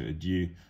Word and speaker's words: adieu: Joy is being personified as somebody whose hand is ever at his lips, bidding adieu. Okay, so adieu, or adieu, if we want to say the correct French pronunciation, is goodbye.